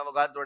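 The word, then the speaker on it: Avogadro: इसे ही कहा जाता था अवोगाड्रो नंबर, या आप कहें सही प्रोनाउंसिएशन में अवोगाड्रो नंबर।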